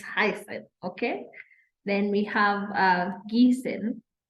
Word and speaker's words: heißen: to find out that we pronounce double S as S. Okay, so that Esset is not a B. Let me be the first one to tell you, if you've never heard it and you've been thinking it that is letter B, no, it is not. It is actually two S's that are represented by this Esset, okay? For example, zum Beispiel, we have the word heißen.